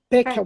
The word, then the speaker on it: Pekelman: É correta a pronúncia, Pekelman? Peckelman.